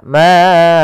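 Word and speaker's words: أَعْبُدُ: di dalam membaca Qalqalah beberapa kesalahan yang sering muncul dan terjadi yaitu membaca dengan tidak dipantulkan misalnya maud nah ini ul dalnya padahal huruf Dal salah satu sifatnya adalah qqalah mantul Kemudian yang kedua menambahkan Hamzah misalnya maud budah ini tambah Hamzah harusnya tidak ditambahkan Hamzah mabud Ma AUD ya bukan Bud tapi maud tidak ada hamzahnya kemudianakum lakumukum waliin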